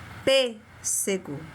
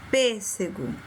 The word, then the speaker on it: pêssego: Pêssego. Pêssego. Um som fechado para dentro.